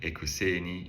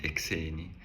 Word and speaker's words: ekuseni: We had namhlanje in the first video, and now we can also add ekuseni in the morning. This is often pronounced ekseni.